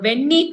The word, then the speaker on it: Venni: of the temple uh if my pronunciation is right then it's the venni karambeshwar temple v e n ni venni karambeshwar it's a shiva